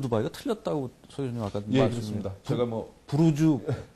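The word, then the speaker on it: برج: 그이 두바이에 사는 외국인들이이 아랍으로 브루즈 탑이란 뜻입니다 타워란 뜻입니다이 브루즈 buj이기 때문에로 발음한 거를 우리가 그걸 따라서 지라고 이한 건데 이제 뭐 특별히 뭐 큰 문제가 없는 상 우리가 현지 발음을 해 준다고 브루즈 두바이가 맞고요 근데 이제 최근에 그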